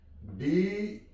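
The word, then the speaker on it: design: डिजाइन, जी silent है, डिजाइन।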